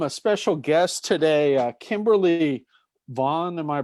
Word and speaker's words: Kimberly Vaughan: i we welcome a special guest today uh kimberly vaughan am i pronouncing that name right kimberly that's right kimberly vaughn yes perfect we have kimberly vaughn who's a